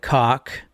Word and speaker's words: Koch: Karl Koch, which is Koch. I've also heard it pronounced like Coke, like the Coke you drink, and then or the Koch brothers.